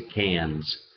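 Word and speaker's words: Cannes: it down well they it's spelled c a i r and S and you would think that it would be like KS or something like that but they say cans so the hour is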